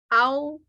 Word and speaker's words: au: So the home vowel for AU is ow. Okay. Owl, like owl. And then the word in Hmong, you put the vowel and the tone together, how, owl, and then the S,